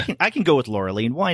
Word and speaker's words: Laureline: you're pronouncing her name laureline I guess that's how you pronounce it in French yeah but you know I'm sure most Americans will say Lura and that's fine I